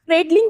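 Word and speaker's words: cradling: Next is क्रेडलिंग भी बोल सकते हो, क्रैडलिंग भी बोल सकते हो, दोनों तरह से प्रोनाउंस होगा।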